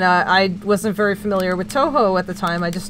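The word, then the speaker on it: Touhou: this adorable child was saying Toho, but pronouncing it Tuhu. Like Yoo-hoo, the chocolate milk, and it was one of the cutest things I'd ever heard in my life.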